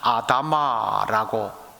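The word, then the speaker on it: אדמה: 흙이라고 번역한 이 원래 히브리어 단어를 발음 그대로 하면 아다마라고 읽습니다.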